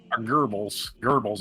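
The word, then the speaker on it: Goebbels: Gerbles as if pronounced in German.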